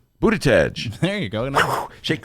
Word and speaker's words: Buttigieg: And Ben, how do you pronounce that guy's last name? Buttigieg. There you go. No. Shake your Buttigieg. It's Booty Judge, right?